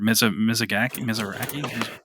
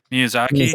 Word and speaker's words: Miyazaki: Oh my god, I'm gonna say his name wrong. Mizuraki. I always get him mixed up with the Studio Ghibli guy. Miyazaki.